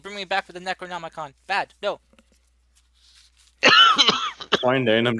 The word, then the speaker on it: Necronomicon: I already did Fuck, I don't even know how to pronounce it. Pneumonia. Pneumonia. No. Oh no. The Necromonicron? Is Oh. that the book? Necronomicon. Necronomicon.